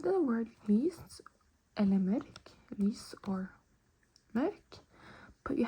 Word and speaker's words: mørk: And then more dark is mørk. Mørk. Mørk. It's a tricky word. You have to pronounce the Ö and roll the R.